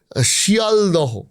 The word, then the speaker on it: শিয়ালদহ: যেমন ধরুন এই যে শিয়ালদহ আমরা বলি শিয়ালদা খরদহ। খরদা মালদহ মালদা হোডিং মানে শিয়ালদা মালদাহ এগুলো তো হোডিং এ বড় বড় করে লেখা আছে কিন্তু উচ্চারণ আলাদা তাহলে এদের এই মানে